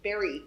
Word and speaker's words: Barre: founder co-founder of hood Insight Meditation Center in Barry it's not hard spelled bar but pronounced Barre Massachusetts she also co-founded the very center for